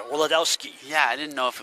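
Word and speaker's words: Wladowski: Wiladowski. Fouled by Hughes, I think. Brad, it's spelled W-L-A-D. Owski. So I want to pronounce the W. I think it only sounds better. Wiladowski.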